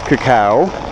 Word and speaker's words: cacao: from and yes I am saying it right cacao here's war growth and there's definitely a couple